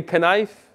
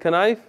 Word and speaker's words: knife: you're good all right and you say knife everybody said kanife no why why don't you pronounce the k because you know right